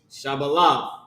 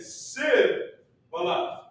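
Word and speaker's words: שיבולת: So the correct way to say it is Shabalah. Go ahead. And he said Sib-Balah.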